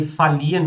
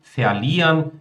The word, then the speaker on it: verlieren: Pessoal, palavras com o prefixo fea, tá? Muitas vezes eles são pronunciados só como fa. Posso pronunciar versuchen, versprechen, verlieren, verhindern, versehen.